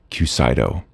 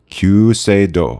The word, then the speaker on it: Kyuseido: Japanese way in Japan they would not say cusido so I got coached and I will now do my best attempt qo I also had her